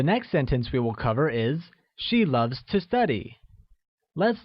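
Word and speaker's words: 爱: to love or love translates as I which is pronounced using a falling tone like I good to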